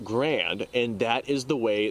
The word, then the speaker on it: Garand: of that particular individual the man's original name was pronounced Garand that is the Canadian way that they pronounce his name however with the American English depiction it would be pronounced Grand and that is the